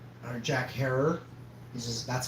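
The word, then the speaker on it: Herer: I spoke with Jack Herrera. Or Jack Herrer. That's how you pronounce it, like terror, but with an H.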